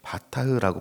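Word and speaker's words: בטח: 믿는다 할 때 바타흐라고 발음하는이 단어가 있는데요.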